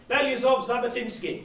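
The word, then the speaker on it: Belousov-Zhabotinsky: Beliazov-Zabotinsky.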